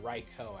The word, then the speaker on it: Raikou: Okay, so Skeledirge, Primarina, Meowscarada, Raikou, or Raikou actually, as it's actually pronounced, Scizor, and Gliscor.